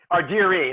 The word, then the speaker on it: Ardire: So that's Ardire. That's okay. Ardire. It's a hard E at the end.